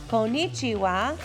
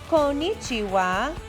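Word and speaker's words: こんにちは: to say hello in japanese you would say konichiwa konichiwa now you try good job don't forget there are four sounds konichiwa konichiwa now you try hey great job okay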